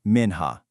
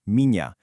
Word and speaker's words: minha: This one sounds exactly like the nya in the English word canyon. So when you're talking about your wife, mña esposa, you don't say minha, not at all.